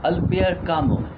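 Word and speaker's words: Albert Camus: this stone continued at least as late as albir kamu it is pronounced as always but written as albert gammas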